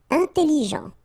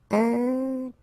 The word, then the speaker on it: intelligent: Intelligent. Final T not pronounced, so G-E-N, Jean, okay? Intelligent. Double L, it opens the pronunciation of your E, so it's E.